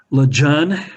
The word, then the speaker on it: Lejeune: Lejeune, as they said at Kamloops. That was the Chinook Jargon pronunciation of his name, Lejeune.